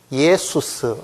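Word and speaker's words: Ἰησοῦς: 그러니까 이거를 발음 기호대로 하면 이 발음은 이게 반모음이니까요. 예가 됩니다. 예. 이거는 수스죠. 이거를 이제 헬라식으로 하면은 이게 예수스 이렇게 읽고 이게 영어 발음으로 오니까 이거를 이제 지저스 이렇게 부르는 겁니다.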